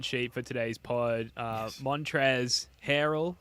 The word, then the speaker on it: Montrezl Harrell: Montrezl Harrell, as I was told by Spoonie to pronounce.